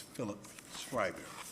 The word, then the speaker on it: Schreiber: daycare, he texted me to make sure I pronounced it correctly as Philip Schreiber.